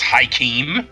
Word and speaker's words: Joachim: That's how it's Hakeem. It's Yes. Hakeem, yeah. Good Christ, that's spelled weird. Yeah. It's a real world name, but yeah, that's how it's said.